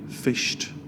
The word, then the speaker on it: fished: You've also got the word fished, which has the T sound at the end, fished.